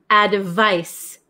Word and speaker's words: advice: remember about pronunciation so number seven is advice advice advice it has a c and it's pronounced like SS sound advice and then number eight